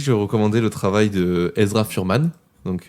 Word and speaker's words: Ezra Furman: Je recommander le travail de Ezra Furman. Donc E Z R A Furman R M A N. Voilà comme ça se prononce quoi.